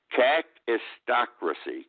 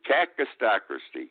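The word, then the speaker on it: kakistocracy: I hope I pronounce it correctly. Cacistocracy. Cacistocracy.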